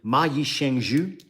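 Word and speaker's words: 蚂蚁上树: It's actually ma yi sheng zhu, I believe is how it is pronounced.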